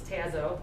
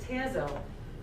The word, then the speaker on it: Tazo: drink chai tea it's tazo caleb's like that says tazzo because oh is an open syllable and it's a long vowel and my son ian's